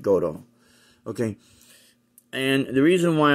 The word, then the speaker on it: Gotoh: that's how it's that's how it's spelled it's pronounced goto okay and the reason why i'm doing this